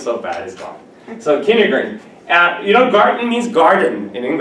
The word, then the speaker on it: Kindergarten: So from nursery to kindergarten, right? How do you pronounce this in Deutsch?